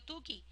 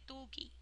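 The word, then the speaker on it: Tukey: con la prueba de yo siempre le he dicho tuki pero vean Cómo se escribe ustedes que son expertos en inglés me dirán Cómo se pronuncia okay Y ese tuki Aquí está ve Buscar el valor crítico de tuki no es con o es con u tuki cómo lo busco eso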